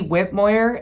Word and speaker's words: Whitmoyer: Uh, my name is Whitmoyer and that's spelled W H I T M O Y E R.